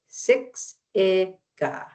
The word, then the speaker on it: Siksika: And pronunciation is Siksika Siksika pi. And then we got Siksika. And you just say Siksika.